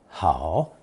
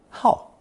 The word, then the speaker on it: 好: We learned long ago that third tone 好 can also be pronounced fourth tone 好 when it means to be fond of or addicted to something.